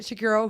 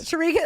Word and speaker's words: Sharigas: Oh, Bridget Shakiro, who I was sorry, Sharigas. Bridget. Sharigas. Oh my gosh. Yeah. I work with her a lot, so I know how to pronounce the Greek name.